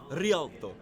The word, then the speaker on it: Rialto: your map knowledge however i think you mispronounced it it's actually rialto but i can i